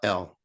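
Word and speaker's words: ل: it you see the L and Elevate it's elevated up to the top you can't say l unless the tongue touches the top palate and like when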